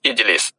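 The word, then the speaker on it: اِجْلِسْ: അതുപോലെ തജ്ലിസു, നീ ഇരിക്കുന്നു എന്നതിൽ നിന്ന് നീ ഇരിക്ക് എന്ന് പറയണമെങ്കിൽ ഇജിലിസ്. തെജ് ലിസു ഇവിടെ അവസാനത്തിന് മുമ്പുള്ളതിന് കെസറാണ്, ഇകാരമാണ്. അപ്പോഴും ഈ അലിഫിന് കെസറു എടുക്കണം, ഇജിലിസ്.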